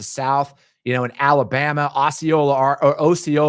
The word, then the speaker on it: Osceola: You know, in Alabama, Osceola, Arkansas, even though it's pronounced Osceola where I'm from, in Osceola, Wisconsin, and in Brandenburg, Kentucky,